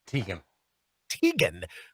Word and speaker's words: Teigen: John Legend in his own mind, and Chrissy, is that pronounced Teigen? Teigen.